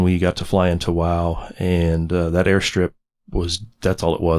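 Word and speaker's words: Wau: going, which is in Wow, W-A-U, pronounced Wow.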